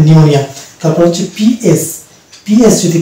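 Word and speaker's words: pneumonia: পিএন যদি পাশাপাশি থাকে তাহলে কিন্তু এরকম একটা ওয়ার্ড রয়েছে, যেমন নিমোনিয়া, শব্দের শুরুতে যদি পিএন থাকে তাহলে সেক্ষেত্রে আমরা পি কে সাইলেন্ট ধরবো এবং এম দিয়ে উচ্চারণ করবো, অর্থাৎ এটা হবে নিউমোনিয়া।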